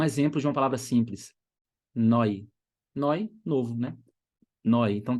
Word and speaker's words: neu: Próximo padrão, a letra E mais a letra U. Isso soa como oi. Oi. Um exemplo de uma palavra simples. Neu.